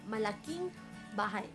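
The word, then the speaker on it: malaking bahay: でも本当の発音はマラキンです。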